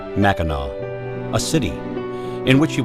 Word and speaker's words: Mackinac: you Mackinaw the only word in the English language where it is acceptable to pronounce the letter C as if it were a W Mackinac a city in which